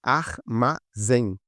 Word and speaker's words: armazém: Da mesma forma em armazém. Ar, vamos separar as sílabas. Armazém. Trissílaba, porque tem três. E a última, que é a mais forte, tá? A gente começa aqui, beleza? A última é a mais forte. Então ela é oxítona.